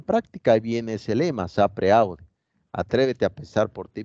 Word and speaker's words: sapere aude: Se escribe sapere aude, se pronuncia sapere aude.